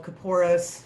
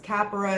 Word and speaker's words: Kaporos: a religious ritual called coporus some pronounces as capyra it's pronounced different ways and i was approached